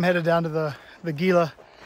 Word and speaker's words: Gila: Trails so I'm headed down to the The Gila it's actually pronounced Gila I learned earlier uh we're going to head